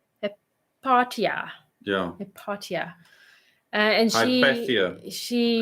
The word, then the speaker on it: Hypatia: And how do you pronounce her name? Where's her name? Hypatia.